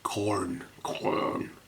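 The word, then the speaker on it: Khorne: And corn is corn, as in... I've always said. Oh, people try and pronounce the H. Corn. Just corn. Corn. As in corn dog.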